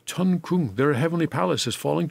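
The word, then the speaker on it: 천궁: Tian is the word for heaven. Yeah, heaven. And in the Korean pronunciation, that is a chun. And palace, of course, is in Korean is kung. So this is a chun kung.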